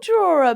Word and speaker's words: drawer: draw that's a draw it's spelled drawer but you pronounce it draw no way no you've